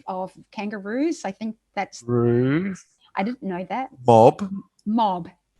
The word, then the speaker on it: Roo: So Roo, or just say it in English, one of the two. Roo as the diminutive of kangaroo, ROO.